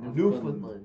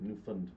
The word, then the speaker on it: Newfoundland: I have to say it how they say it. Newfoundland. Newfoundland.